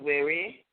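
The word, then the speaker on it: were: and it says w-e-r-e but you know it's pronounced wary uh in your conception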